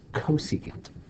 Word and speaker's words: cosecant: And this you're going to pronounce cosecant. Don't say CSC.